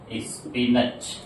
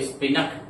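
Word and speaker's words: spinach: इसको इंग्लिश में कहते हैं स्पिनच। क्या कहते हैं? स्पिनच। कुछ लोग इसको स्पिन अप पढ़ते हैं।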